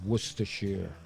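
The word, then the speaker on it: Worcestershire: bit of werer sauce and that's how it's pronounced werer right and uh give it a good mix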